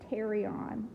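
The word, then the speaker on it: pterion: here is known as the Terry on and it's spelled with a pee like pterodactyl p te RI o n the Terry on so that's this little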